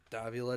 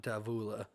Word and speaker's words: Davila: Davila to take it again. It is not Davula. Just hearing the Detroit people say his name very wrong.